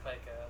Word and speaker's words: Pica: Is it Pica or Pica? It's Pica, definitely. Pica Beats. It's like P-I-E-K-A. It's like okay.